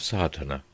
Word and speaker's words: Sadhana: A word may be added about the pronouncing of sadana. The accent falls decisively on the first a which has the broad sound of the letter.